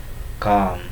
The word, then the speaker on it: calm: L, it becomes silent in calm, talk, word, of.